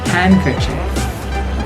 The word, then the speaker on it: handkerchief: Handkerchief.